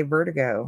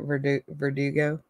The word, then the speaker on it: Verdugo: I like to say Vertigo. Meh. Hey, Ben. Hey, Curtis. I don't even know how you said it. How'd you say it? Verdugo. There you go. Now I can say it right.